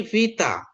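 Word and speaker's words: β: Saya akan baca supaya Teman-teman mengingat kembali cara bacanya ya. Ini alfa alfa ini. Ini apa? Ini kayak F dia alfa ya. Ini vita viktor vita.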